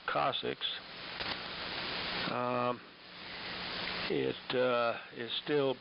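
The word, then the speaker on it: coccyx: And um well uh after falling on my tailbone, also known as the cocc yx pronounced cussix.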